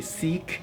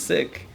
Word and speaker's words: Sikh: sikh looks like um how do you say the word sick because a lot of people say seek i yeah i used to say seek i didn't know it was sick yeah it's and it's sick yeah so it's the right way to say it is sick so indirectly i try